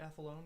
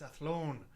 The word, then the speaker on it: Athlone: Ennis and I was I was pronouncing it uh wait how does that trip to athlone go and she was she scoffed and said it's athlone well recently we heard